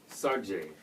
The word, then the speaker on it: Saartj: And how you pronounce this? Saartj. Saartj. So that's how I pronounce it.